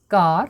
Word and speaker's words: car: দেখো এখানে সির এখানে উচ্চারণ হচ্ছে কর মতো, এখানেও কিন্তু এর উচ্চারণ হচ্ছে আর মতো, আর আর এর উচ্চারণ হচ্ছে র।